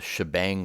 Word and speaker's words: shebang: in what's called the shebang line i think like shell is maybe where the shi comes from and then the bang is the exclamation point it's a common way to pronounce that and then we're going